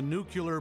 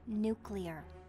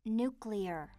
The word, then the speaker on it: nuclear: It's nuclear. Yeah, I know. Nuclear. You did it again. It's pronounced nuclear. That's just what I said. Nuclear. Hun, listen to me. It's nuclear. You're adding a U in there.